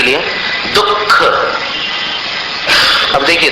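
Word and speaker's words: दुःख: जैसे उदाहरण के लिए दुख अब देखिए दुख में अपन लिखते हैं विसर्ग लेकिन उच्चारण नहीं करते विसर्ग का। उच्चारण अगर विसर्ग का करोगे तो कैसा उच्चारण होगा? दुख। लेकिन उच्चारण ऐसा नहीं करते। उच्चारण अपन जीवा मूल्य का करते हैं।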